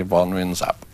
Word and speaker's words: Võ Nguyên Giáp: I always used to say Vo Nguyen Giap, but they say Vo Nguyen Giap. So it's like a Z? Yes, like a Z, yeah.